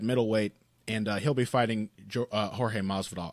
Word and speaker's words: Jorge Masvidal: And he'll be fighting Jorge Masvidal. I almost called him George Masvidal. Learning how to pronounce Brazilian names and Portuguese words has ruined my ability to say Spanish.